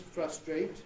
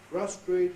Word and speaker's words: frustrate: Words like, now if you use the British versions, frustrate, locate, migrate, and rotate. Lots of others too. The Americans will regularly pronounce those frustrate, locate, migrate, and rotate.